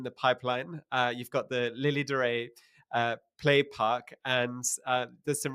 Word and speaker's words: Lilidorei: So again, from the Duchess, her vision is that it's Lilidorei. So we need to try to think of a way to use the word so that people can pronounce it correctly. It's Lilidorei, and the whole concept,